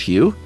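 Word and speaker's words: Hieu: It's spelled H-I-E-U, pronounced Hugh, and N-G-U-Y-E-N.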